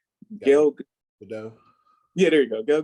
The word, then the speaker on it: Gadot: So when they say Gal, I always say her last name wrong. Gal Gadot. Yeah, there you go. Gal Gadot.